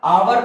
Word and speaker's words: hour: आवर पढ़े या हार पढ़े, कुछ भी पढ़े तो NR होना चाहिए कि नहीं, क्योंकि ए से ए आया प्रोनाउंसिएशन में तो ए तो हमारा वोवेल है तो इसके हिसाब से एन आना चाहिए।